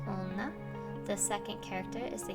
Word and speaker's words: 女: this word means women the first kanji is pronounced jo and the second she the first kanji means